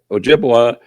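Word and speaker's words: Ojibwa: Um Ojiua is Ojiua is a real name. I think it's the authentic name, the original name, but the French couldn't pronounce Ojiua, so they named it Chipoa.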